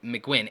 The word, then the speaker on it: McQuinn: Okay, so your name is pronounced Mcuin. McQuinn, thank you so much.